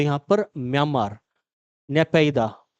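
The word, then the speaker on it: Naypyidaw: तो यहाँ पर म्यांमार, नेपाइदा, है ना, कुछ अजीब सा नाम इसका मिलेगा प्रोनाउंसिएशन में, अलग अलग नेपिंदे बोल देते हैं, कोई नेपिया बोल देता है, तो ये नेपिंदा।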